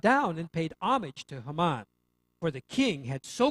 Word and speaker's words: Haman: Thirdly, there's Haman, or Haman would be the proper pronunciation.